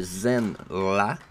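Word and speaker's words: Zenn-La: De retour sur sa planète natale de Zen-La, qui s'écrit Z-E-N-N-La, Norinrad, ça se trouve être son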